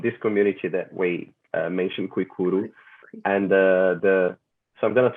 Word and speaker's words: Kuikuro: you do with indigenous tribes in Brazil, the Kuikuro, the Xingu? The Kuikuro, yeah. Yes. Correct. Yeah. Did you like my pronunciation there?